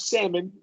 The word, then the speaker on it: salmon: it with this Alm not salmon it's completely silent there but a lot of